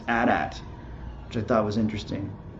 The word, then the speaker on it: AT-AT: this is that George Lucas prefers that it's pronounced a DAT which I thought was interesting because usually he's